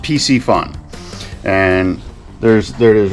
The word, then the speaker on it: Piscifun: looks a bit different but um it's it's pronounced PC fun and there's there it is right here looks